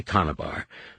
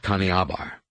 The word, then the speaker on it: Kanabar: "I told him to say Kanabar, not Kaneabar."